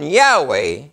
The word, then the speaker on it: Yahweh: say while in planning to view the pronunciation yahweh as the more correct way we have retained the form jehovah because of people's familiality with it since the 14th century moreover it preserved equality with other forms the four letters j h v h they admit that it's wrong and they're still using